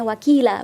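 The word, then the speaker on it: وكيلا: Jadi dibacanya wakila bukan wakilan ya. Panjangnya 2 harokat.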